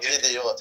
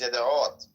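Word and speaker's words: ידיעות: It's not Yediot. It's Yed'ot. Yeah, you gotta get the ayin.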